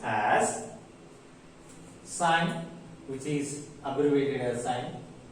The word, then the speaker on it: sin: However, we write it as only SI and we pronounce sine.